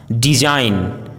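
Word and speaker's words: design: यदि किसी वर्ड में जी एन या जी एच साथ में हो तो जी का उच्चारण साइलेंट होता है, जैसे असाइन, डिजाइन, साइन, फोरेन, रिजाइन, align, height, light, fight.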